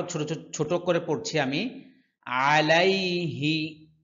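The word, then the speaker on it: عليه: ছোট করে পড়ছি আমি আলাইহি আইনের উচ্চারণ স্পষ্ট করতে হবে কণ্ঠনালীর মধ্যখান থেকে আইন উচ্চারিত হয় অনেকে বলে আলাইহি সম্পূর্ণ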